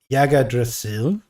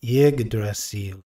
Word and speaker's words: Yggdrasil: Ghosty says, "I always pronounced it Yggdrasil or Yggdrasil, but this is very wrong. It's Yggdrasil."